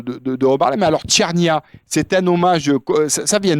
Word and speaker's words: cernia: Et euh il y a un poisson en Méditerranée qui s'appelle le merou et en italien, ça se dit chernia.